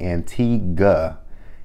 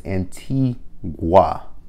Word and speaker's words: Antigua: over the fact that they say Antigua and tea good it's auntie wah like there is a